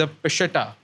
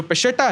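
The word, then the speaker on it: Peshitta: Bible को बोलते हैं द पिशटा अगर मैं क्लियरली प्रोनाउंस कर रहा हूं इसको द पिशेटा सीरियाक बाइबल को बोलते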